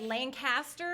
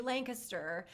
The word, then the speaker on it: Lancaster: of rudely told because i think i said lancaster everyone does i'm from florida and so i learned very quickly lancaster just like where my husband's from in washington